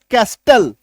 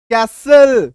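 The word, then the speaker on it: castle: एस टी एल इ तो ऐसे शब्दों में टी का उच्चारण हम लोग नहीं करते। टी का उच्चारण हम लोग नहीं करते। एक दो एग्जांपल और देख लीजिए एस टी एल ई का। ठीक है? सी ए एस टी एल ई। इसको हम लोग क्या पढ़ेंगे? कैस्टल। क्या पढ़ देंगे? कैस्टल। लेकिन कैस्टल नहीं होगा। टी को काटना है। सीएसएल ई कैसल क्या उच्चारण निकल के आ गया? कैसल क्लियर है?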